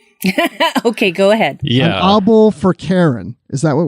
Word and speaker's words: obol: And I think I saw that the pronunciation for the first word is Obol. So Obol, right?